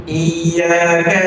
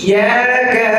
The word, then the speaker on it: إياك: إياك إي إي إي যখন জের বিশিষ্ট বা কাসরাওয়ালা কলম উচ্চারণ করব নিচের চোয়ালটা নিচের দিকে নামবে। হ্যাঁ, ই ই ই ইয়াকা إياك ইয়াকা إياك ইয়াকা إياك ই ই ই জেরের সময় কি হবে?